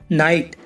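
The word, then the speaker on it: knight: knife knife माने चाकू knock knock माने खटखटाना नाइट नाइट माने शूरवीर नॉलेज नॉलेज माने ज्ञान अब देखो गाइस एल कब साइलेंट रहता है एम डी के एफ से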